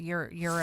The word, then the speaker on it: gyros: I think you said it's pronounced euros.